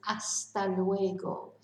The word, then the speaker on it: hasta luego: Now, hasta luego, so remember we don't pronounce the H, so it's hasta luego.